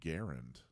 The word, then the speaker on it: Garand: including that cool shirt that says actually it's pronounced Garand which I think you just you got it